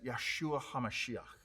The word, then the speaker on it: Yeshua HaMashiach: jews okay hear this jesus christ in hebrew is literally said as yahshua hamashiach which literally means salvation king oh if you